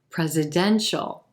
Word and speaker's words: presidential: this word presidential presidential notice how the stress shifts from the first syllable to the third presidential presidential we're going to emphasize that e as in red in the third syllable and then that suffix h sound right into the dark l presidential presidential there's a